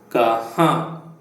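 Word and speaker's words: कहाँ: Where is kaha? Kaha. The n must be pronounced with the nose.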